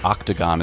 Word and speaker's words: octagon: The O in octagon is pronounced ah.